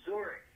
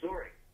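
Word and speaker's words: Wzorek: Yes, it's Zurich. Eugene, Zurich. That's W-Z-O-R-E-K. That's Whiskey, Zulu, Echo, Romeo, Oscar, Kilo. So it's Zurich.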